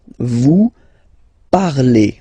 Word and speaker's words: parlez: Let's see now for vous, vous parlez, okay? Remember, a Z, when you combine them together, you get the sound E.